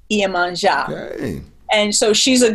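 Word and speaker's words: Iemanjá: How do you spell that? Iemanja with an accent on the A. Iemanja.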